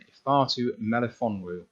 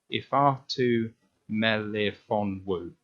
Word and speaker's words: Ifeatu Melifonwu: And for me, this is just about breaking it into the syllables of the name, because if you just try and break it up into its little chunks, it's not too bad.